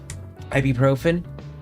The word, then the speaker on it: ibuprofen: Ibuprofen. That's how you pronounce it.